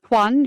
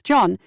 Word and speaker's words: Juan: Juan, who notes Jeffrey often mispronounced his name as John, said Jeffrey told him, "John, they only want money."